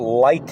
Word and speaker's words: Lytton: wanted to speak about light in Canada I think that's how you pronounce it l y TT o n just for a few